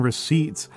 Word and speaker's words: receipt: debt is not um the B in debt and the P in receipts were not uh are not um and the S in isleisle and island are all things that were added to the words uh later in in our history, right? They are not from old English. uh those are old English derived words uh where the letters were added in in order to make the language look more Latiny uh during the 16th century.